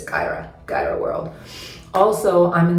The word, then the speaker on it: Kyera: is at Cairo world that's k-y-e-r-a world it's pronounced Kyra but it might be easy to remember if you think Kai era world but it's Kyra Gyro World also I'm in the process of